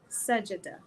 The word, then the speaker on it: Sajda: He said her name is pronounced Sajida.